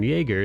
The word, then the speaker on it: Jaeger: Aaron Yeager, is that how you say his name? Yeager? Yeah, like Jaeger bomb.